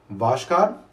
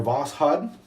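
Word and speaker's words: Voskhod: Next one here, Vashkad, or Vashad, since the K is silent.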